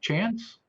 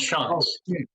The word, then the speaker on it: Shantz: Chance? Had to unmute there. It's a silent T. It's pronounced Shantz.